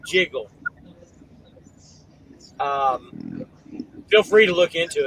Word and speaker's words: JGGL: It's spelled JGGL. Jiggle.